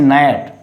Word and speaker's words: gnat: So where that is called, when a word begins with GN, that is called G would be silent.